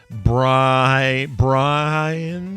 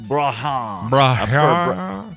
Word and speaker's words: Brahane: People like Dennis Rhodes, Gordon Williamson, Scott McKeon, Brian. Is that Brian? Brian. Because look how it's spelled. Brahane. I know, I see it. It's Brahane.